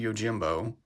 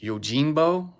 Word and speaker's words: Yojimbo: do believe that usagi Yojimbo or yagi Yojimbo is uh Japanese for rabbit bodyguard uh I think it's actually pronounced yinbo I think there's more of an n Sound instead of an M maybe that was a